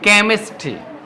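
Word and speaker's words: chemistry: ক উচ্চারণ করব কি উচ্চারণ করব আমরা ক উচ্চারণ করব দেখো সি এইচ কেমিস্ট্রি কেমিস্ট্রি এটা হচ্ছে যে কেমিস্ট্রি বই রসায়ন বই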